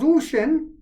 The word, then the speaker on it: Uxin: with uxin no son we did not because usan that's the way it's pronounced ux i n uh is the largest